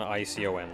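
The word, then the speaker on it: Eikon: at home not icon icon like acon kind of thing it's e-i-k-o-n but it's pronounced icon yeah it's not icon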